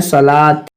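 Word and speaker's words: صلوٰة: वाव silent होने की मिसाल, जिस तरीके से अरबी में सलात, यहाँ पर वाव नहीं पढ़ेंगे हम। सलात में हम वाव नहीं पढ़ेंगे, लाम के ऊपर खड़ा ज़बर है ला और त, सलात।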